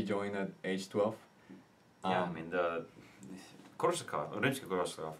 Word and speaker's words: Rimsky-Korsakov: So Nikolai Rimsky-Korsakov, did I say it right?